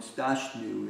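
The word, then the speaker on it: स्थास्नु: What is that? ST or SI? Which one? The third word on the last line. I've been calling it Stashnu. It's S-T-H-A, emphasized T-H-A-S-N-U.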